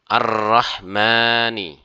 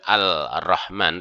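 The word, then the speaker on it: الرحمن: membacanya Misalnya ini ya arrahmani arrahmani arrahmani arrahimi maka huruf lam tidak dibaca langsung masuk kepada ro ya dan ada tanda biasanya tasjid ya Arrahman arrahim bukan alrahman tetapi Arrahman ya Nah hukumnya adalah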